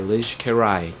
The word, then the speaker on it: Lij Kerai: It's spelled L-I-J as in Jonathan. Let's get it right. Not a G. That'd be Lig. Anyway, L-I-J like Jesus. Capital K-E-R-A-I. Lijs Kerai.